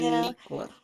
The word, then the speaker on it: Aniqua: Aniqua. like an enigma.